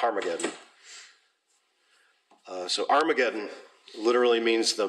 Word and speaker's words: Armageddon: Okay, Armageddon, because it actually has that sound at the beginning of it in the original. I've never noticed that before. But there is a hard breathing mark, so it's Armageddon.